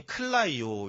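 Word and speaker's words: κλαίω: 그래서에 발음이 클라이오 이렇게 돼서 클라서 약간 이런 거 비슷한 느낌이잖아요.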